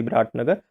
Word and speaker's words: Biratnagar: border at the Birgunj and the Biratnagar or Birat Nagar. That is the Birganj, that is the Birat Nagar. That is the correct pronunciation.